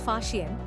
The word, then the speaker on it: Faxian: Chinese traveler Faxian, pronounced as Faxian, visited India in the early 5th century CE.